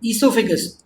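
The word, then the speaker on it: oesophagus: जैसे जैसे हम इसमें आगे बढ़ेंगे सो you will find pharynx आएगा first reason, then ईसोफेगस, ओ is silent.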